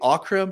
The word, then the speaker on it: Ockrim: i saying it correctly akram do you say okram how do you pronounce your last name okra yeah oh christmas my god